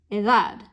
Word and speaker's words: edad: So my spoken stress is here on that last syllable, edad.